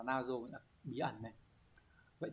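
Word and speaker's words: 謎: đi cố định với từ nazo từ này đọc là nazo là bí ẩn này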